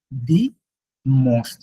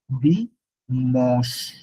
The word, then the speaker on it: dimanche: সানডের বেলায় দিটা সামনে চলে আসে, দি মস, নট মানছে, দি মস, dimanche, dimanche.